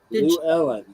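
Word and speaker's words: Llewellyn: Lou Ellen. That's how you say that word. Lou Ooh. Ellen. I've always had trouble with it. Yeah, don't look at how it's spelled, okay? Yeah. It's a Welsh word. Don't pay no attention to the spelling, just Lou. It's Welsh.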